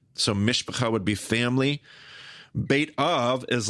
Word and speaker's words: Beit Av: Your father's house, which is also known as a Beit Av, by the way, Beit Av, house of the father, Beit Av.